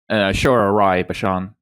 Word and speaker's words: Aishwarya Rai Bachchan: Aishwarya Rai Bachchan.